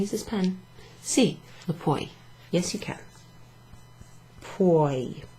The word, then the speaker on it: puoi: Sì, lo puoi. Yes, you can. Puoi. So this one rhymes with vuoi.